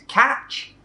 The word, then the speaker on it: catch: middle of the word it is t c h a touch sound not a sh sound okay call mean how